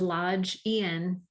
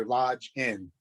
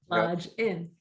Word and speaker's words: Lodgen: It's Lodgen, but it's pronounced like ski lodge. And then like that was the pronunciation. And like you're going into a door, so Lodge In. Lodge In.